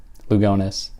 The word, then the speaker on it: Lugones: am a clown uh that's how people in in Spain would might pronounce her name or in other parts of the world but not how she herself would have pronounced her own name so anela lugones and